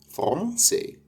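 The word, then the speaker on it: français: فرنس فرنس مش فرنسيه طبعا لا فون فونسي فرونسي فرونسي الحرف ده في الفرنسيه بيتنطق زي كلمه فرونسي سي ر زي ر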